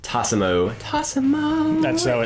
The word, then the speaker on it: Tassimo: And like I said, I'm a huge coffee fan, and I have to admit that the Bosch Tassimo. That's how you actually have to pronounce it.